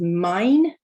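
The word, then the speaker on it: mein: um i.e so yes e i is i like einstein another example is mine meaning my okay so i'm going to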